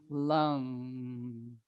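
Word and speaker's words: लं: we don't have the it's a short a which sounds like uh uh and the end is they'll often write it with an m but it has a song in it so it's kind of like ohm you say the m but you swallow it and have a nasal resonance in there so it's lung all of the bija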